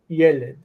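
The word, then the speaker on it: ילד: So the steps were yald as a consonant cluster, and then yalid, and then yelid.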